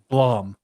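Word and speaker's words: Blame!: hell is it called Blom it's spelled blame b m with an exclamation point but they pronounce it Blom for some reason I don't know why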